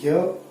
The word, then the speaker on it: ज्ञ: हमारे यहाँ उच्चारण में ज्ञ मतलब ग और य की ध्वनि मिल रही है, ऐसा हमें ध्यान में आता है, लेकिन वास्तव में ऐसा नहीं होता है।